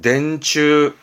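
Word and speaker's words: 電柱: 발음은 덴추.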